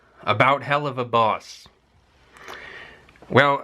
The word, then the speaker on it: Helluva: talked very briefly on hell of a boss Hua boss we could also call it that's an alternative pronunciation halua boss I talked about this